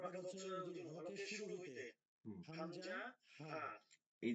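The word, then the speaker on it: همزة: হচ্ছে যদি শুরু হইলে হামজা হা এই যে হামজাটা হলো না কি হবে হামজাটা হইলো না উচ্চারণটা হলো হামজাহ যা মনে আছে হাম জাহ হাম জাহ হামজাহ আচ্ছা দুই নাম্বার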